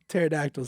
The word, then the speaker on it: pterodactyl: interested are you silent he's what he's silent pterodactyl spelled with a p anyway I've been waiting for